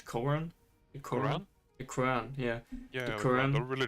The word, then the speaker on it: Quran: You know, he wanted to go around and hey, let's burn some Korans. How do you pronounce it in English? Koran? The Koran? Quran? The Quran, yeah.